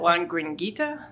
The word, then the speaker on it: La Gringuita: speak today um and I'm probably going to butcher the name of your company so I may let you say that is it Juan gringuita yeah that was perfect um you know but